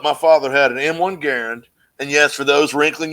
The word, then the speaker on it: Garand: I mean, so when I grew up, my father had an M1 Garand, and yes, for those wrinkling your fucking nose, that's how you pronounce it, because John Garand invented it.